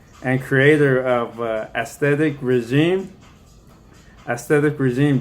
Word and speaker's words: Aesthetic Regime: Aesthetic Regime. Don't get that name wrong. Don't say regimen.